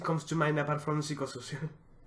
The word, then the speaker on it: Psychosocial: to mind apart from psychosocial? Psychosocial, sorry. Psychosocial, as some would say in French, because we pronounce the fucking P.